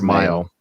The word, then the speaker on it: Mayo: clinic one of the I don't know how it's pronounced May or Mayo Mayo like mayonnaise so he's at the